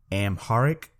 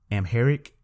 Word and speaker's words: Amharic: AR I see I'm going to try to pronounce it Amharic Amharic and then I looked up afro-asiatic and it